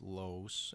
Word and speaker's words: Loos: But just so you know who I am, my name is Loos, and last name is pronounced Lows, L-O-W-S.